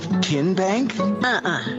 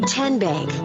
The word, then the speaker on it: TN Bank: arena in a moment how do you say the name tn bank no tin bank so what is it ten bank ten as in tennessee right here where all